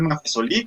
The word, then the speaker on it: Maffesoli: un autor francés michel maffesoli creo que se pronuncia maffesoli para con un tema